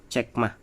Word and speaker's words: चकमा: जैसे ये ती है और यहाँ ती है ना, ये ती यहाँ साइलेंट है और इसका प्रोनाउंस कैसे होता है, चकमा, चक है ना, चक और चकमा।